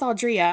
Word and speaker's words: Audrea: said it right yay I almost stopped myself and said Audrey but I was like No we're going with audrea I love that that's